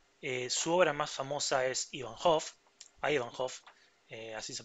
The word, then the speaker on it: Ivanhoe: Su obra más famosa es Ivanhoe, así se pronuncia.